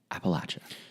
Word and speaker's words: Appalachia: There's no Y. People will know that you're not from here. There's not a Y. There's not an S at the end. Appalachia. It's just Appalachia.